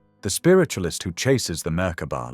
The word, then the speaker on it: Merkaba: Merkaba, three syllables, three aspects of one structure. M the light fields rotating in opposing directions. Car the spirit body encoded with intention. bar the physical vessel that holds it all in time.